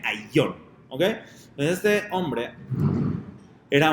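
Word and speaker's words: Ayllón: Hay quien lo pronunciaba en hebreo Aelion o Aelion, ¿sí? Pero no, el nombre realmente es Ailion, se pronuncia como A-Y-L-L-O-N, Ailion, ¿ok?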